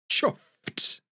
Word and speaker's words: chuffed: might use the word chuffed chuffed Chu it's a t sound at the end chuffed you'll often hear